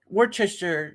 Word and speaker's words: Worcestershire: That's another one where we just skip a bunch of letters in the word and pronounce it totally differently to how it's spelt. Worcester. Worcestershire is how Worcestershire.